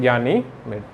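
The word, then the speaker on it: Ganymede: और ज्ञानीमीड जो है इसका सबसे बड़ा उपग्रह है, जो कि केवल इसी का है, ज्ञानीमीड।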